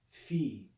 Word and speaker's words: phi: the sound and but the way that most people pronounce it is just like the english ph in phone that's how it's been